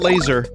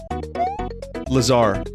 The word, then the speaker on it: Lazar: don't hear it that you have to hear the way it's pronounced you might not know it's pronounced Lazar you might say laser I'm sure someone could